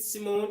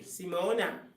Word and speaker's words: Simone: That's how you pronounce it, Simone. In Jamaica, it will be Simone. But probably like when you're from Guyana, you say Simona. I'm not sure.